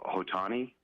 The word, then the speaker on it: Ohtani: Hey, I heard your story about that phenomenal, I don't know how to pronounce his name, Ohtani, the great pitcher hitter. Shohei Ohtani, yeah.